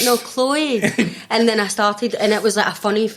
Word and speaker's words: Chloe: say my name and they'd say Levy lovey lovey and I'm like no Chloe they're like Chloe I'm like no Chloe and then I started